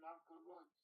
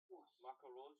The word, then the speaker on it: Marco Rose: Why don't we talk about Bournemouth and Marco Rhodes? Marco Rose, yeah. Marco Rose, however you pronounce it in German. Oh, Royce is the footballer, Rose is the manager. Oh, Marco Rose.